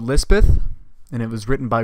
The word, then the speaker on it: Lispeth: guard chaplain christened her Elizabeth or Lizbeth on the hill or Pahari pronunciation later cholera came into